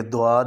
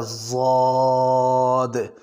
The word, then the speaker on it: ضاد: کہ یہ غواد ہے، تو صحیح اس کا تلفظ کیا ہے؟ تو تجوید والوں نے اس کا تلفظ یہ لکھا ہے کہ زبان کی دائیں جانب والا کنارہ یا بائیں جانب والا کنارہ اوپر والے داڑھوں کے ساتھ لگے تو وہاں سے اس کا تلفظ ہوتا ہے ضاد، ضاد، نہ تو یہ دواد ہے اور نہ ہی یہ غواد ہے۔ اگر غواد پڑھیں گے